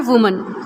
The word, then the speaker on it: women: ऐसे ही washer वुमन, ठीक है. लेकिन अगर ये वुमन WOMEN, वुमन, इसे वुमन नहीं पढ़ेंगे, इसे पढ़ेंगे वीमन. इसका प्रोनाउंसिएशन हो जाता है वीमन.